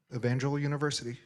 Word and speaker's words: Evangel University: Evangel University. Evangeline University in Springfield, Missouri.